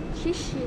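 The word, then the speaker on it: 謝謝: shishi.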